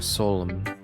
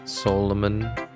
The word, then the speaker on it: solemn: it that way Solem Solem maybe it can be pronounced Solem but it's I've heard it solemn solemn but the N is at the end yeah you don't pronounce the N it's like Autumn do you pronounce the